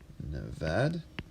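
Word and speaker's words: نود: for their zero and this one is Nevada like Nevada no bad and then they go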